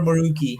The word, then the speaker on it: Morucci: Is it correct, Morucci or Moruki? How do you pronounce? Morucci. This is Morucci. the correct. Okay. Yeah, it's an Italian last name.